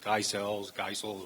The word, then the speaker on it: Geisels: It's pronounced Geisels, whatever you want to say.